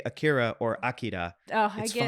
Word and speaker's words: Akira: whole series was inspired by akir AK akir Akira Akira there you go Aira I have to